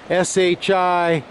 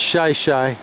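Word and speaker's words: Shi Shi Beach: Shih Tzu Beach is spelled S-H-I-S-H-I, so one might think that it was pronounced Shishi. But if you pronounce it that way, the locals will all know that you're not from around here. It's Shih Tzu.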